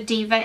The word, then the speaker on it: D'VA: I'm talking about is called Diva Beauty and it's spelled D apostrophe VA so they're a new